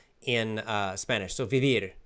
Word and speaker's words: vivir: Okay, 99.9% of people in Spain, they pronounce both sounds the same. B. B. Vivir. B. Vivir. Yes, bibir. I say bibir, and everybody says bibir.